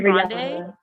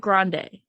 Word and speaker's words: Grande: does she do it her last name is brand not grande oh that well that's just unfortunate i saw that yeah yeah and she's just kind of stuck with grande i guess but it's grand she's gonna buddy i'm